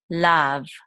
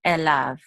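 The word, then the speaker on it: אֵלָיו: This yud is silent. We're just going to say the vav with the lamed. So we're going to say lav. Lav. And that's the part that means to him. Elav.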